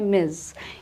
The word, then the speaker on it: Ms: MS यूज़ करते हैं, जिसकी प्रोनाउंसिएशन है मिस।